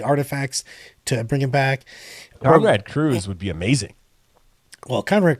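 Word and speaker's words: Konrad Curze: at in the thing, it's actually Conrad Curze, and I've been saying it wrong for 30 years. It's Conrad Curze.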